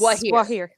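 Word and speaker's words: Gwaihir: Gandalf then soared into Mordor on the back of Is it Gwahir? Is that how you say it? Gwahir. Yes, Gwahir.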